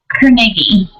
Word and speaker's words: Carnegie: Carnegie.